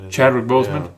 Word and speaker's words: Chadwick Boseman: plays black panther played back black panther uh chad boseman is that how you pronounce his name yeah i think he's chadwick bowles chadwick boseman guy had cancer guy had and he looked